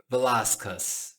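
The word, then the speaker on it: Velasquez: Vocês vão reparar que esse velasquis em inglês é diferente. Você vai ouvir Velascas.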